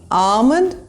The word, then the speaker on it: almond: These are not almond and salmon. Skip the L. Make the R sound, almond and salmon.